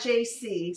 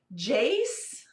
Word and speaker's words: Jace: So those are not JC, say it with the sound of S. Jace, like that, Jace.